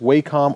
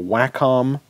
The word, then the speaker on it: Wacom: in to us now I've heard it pronounced wacom or wacom how would you pronounce this word welcome welcome mm-hmm wacom my conscious so if you take away the M it's like Waco so my comm sounds vaguely dirty to me I don't know why